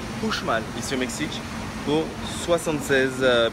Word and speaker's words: Uxmal: Donc ça s'écrit Uxmal, mais ça se prononce Uxmal ici au Mexique pour 76 pesos, ce qui fait un peu moins de 4 euros.